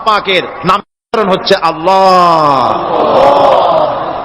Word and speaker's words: আল্লাহ: আল্লাহ পাকের উচ্চারণটা হচ্ছে, আল্লাহ পাকের নাম হচ্ছে আল্লাহ। মুখটা একটু গোল হয়ে যাবে, বলেন আল্লাহ আল্লাহ আল্লাহ।